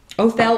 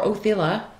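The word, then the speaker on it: Othala: Othel or Othila, it's pronounced two different ways, but and it's in the reverse.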